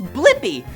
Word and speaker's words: Blippi: name do you know my name yeah it's blippi let's spell it together b-l-i p-p-i blippi that's my name good job alright see